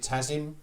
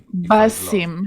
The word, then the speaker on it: Basim: Is it Tazim? Am I right in saying that's Alec? Basim.